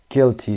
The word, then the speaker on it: guilty: guilty صدای یو خونده نمیشه، دقت داشته باشید silent letter هست.